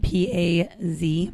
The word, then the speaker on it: paz: And it's spelled P-A-Z, paz.